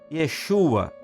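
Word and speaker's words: ישוע: O nome de Jesus no hebraico, a pronúncia é Yesua, que significa Deus salva ou o Senhor é salvação.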